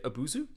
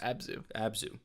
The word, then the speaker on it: Abzu: So anyway, he asks, "Have either of you played Abuzu?" I think that's how it's pronounced. Abzu.